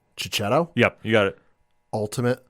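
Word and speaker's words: Checchetto: written by Jonathan Hickman and with Marco and I'm going to butcher the butcher this last name chichetto yep you got it Ultimate Spider-Man what I'm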